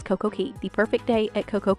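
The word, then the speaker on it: Coco Cay: day at CoCo see I want to say k cuz it Rhymes but it's CoCo Key the perfect day at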